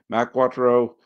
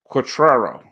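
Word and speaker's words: Quatraro: Earth and it's pronounced quatero I was putting the emphasis on the wrong syllable and for that I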